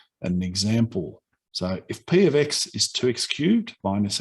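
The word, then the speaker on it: p(x): Change it to p of x. That's how it's pronounced, p of x.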